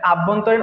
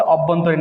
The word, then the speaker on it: অভ্যন্তরীণ: এটা আভ্যন্তরীণ উচ্চারণ করে থাকে, কিন্তু আমাদের সঠিক উচ্চারণ হচ্ছে অভ্যন্তরীণ বিষয়।